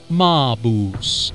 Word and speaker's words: Maabus: adventure game marketplace with MAO I think that's how you pronounce it maoo that's right like Fernando darling you look Mao because it's better to